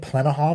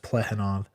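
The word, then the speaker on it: Plekhanov: I've been calling it Plenahov in the past. I believe his name's pronounced Plehanov.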